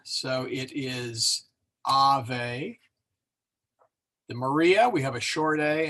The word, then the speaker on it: Maria: of a good okay let's take Maria there's three syll there the accent oh I didn't put the accent in there did I for shame okay um the I is accented there all right well I'll